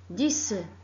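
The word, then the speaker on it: dix: La lettre X se prononce S comme 10, 10.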